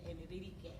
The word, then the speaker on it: Enrique: Enrique, I want to say it like they said Enrique. I want to roll the things, the R's, right? Enrique. Close enough. Enrique. Exactly. See, do that Enrique.